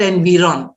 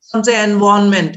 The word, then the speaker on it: environment: or you can also have the r silent you can say environment but it's always ny it's not nv it's not environment it's not and beyond the wrong environment environment all those are wrong pronunciations when you get a